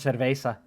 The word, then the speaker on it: cerveza: Well, it's a tequila old fashioned with a splash of cerveza.